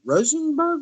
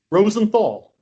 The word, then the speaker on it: Rosenthal: I'm your host, and I've got Harold Rosenberg with me. Did I pronounce that right? Rosenthal.